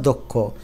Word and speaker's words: দক্ষ: বা গ নাম্বারটা দেখো আদ্য স্বরে পর খিয় বা গ থাকলে অ এর উচ্চারণ ওর মত হয় আদ্য অ মানে এই যে ব্যঞ্জন দর সাথে একটা অ লুকায় আছে তো প্রথম ব্যঞ্জন বর্ণের সাথে যদি অ থাকে তারপরে যদি খিয় থাকে তাহলে দ টা দো হয়ে যায় এজন্য দক্ষ খির উচ্চারণটা ভেঙ্গে প্রমিত উচ্চারণ করলে এরকম হয় দক্ষ তেমনি এটা অজ্ঞ না